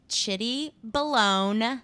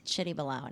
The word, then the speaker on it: Chitty Balone: It's pronounced Chitty Balone, not baloney, as some people like to say. It's Chitty Balone, and it's CHITTY_BALONE. That's my Insta.